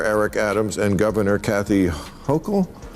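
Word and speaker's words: Hochul: What do you New Yorkers think of how Mayor Eric Adams and Governor Kathy Hokll yes? Yes, you pronounced IT RIGHT.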